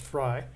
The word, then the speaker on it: Frey: AGK, are you aware of any interview with Forrest conducted this year with author James, it's pronounced Fry?